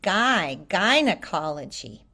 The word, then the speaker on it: gynecology: So I Gynecology. don't know if in British English they say it differently, but we say guy like a guy, a person, a man. It's the And same gynecology?